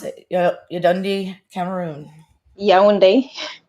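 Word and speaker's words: Yaoundé: But not only that, but just also born in, how do you pronounce it? Yaounde, Cameroon. Yaounde. Yaounde.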